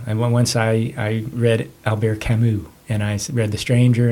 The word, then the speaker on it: Camus: Isn't it pronounced Camus? No, I'm just kidding. Yeah. Camus? It's Alberto Camus.